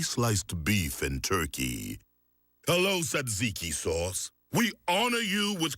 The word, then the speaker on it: tzatziki: Hello, tzatziki sauce. We honor you with correct pronunciation.